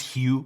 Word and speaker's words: Hugh: It's pronounced Hugh, by the way.